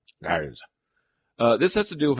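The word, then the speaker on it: Graz: So Gars is spelled G-R-A-Z. Gars.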